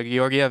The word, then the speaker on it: Georgiev: Yeah, Georgiev.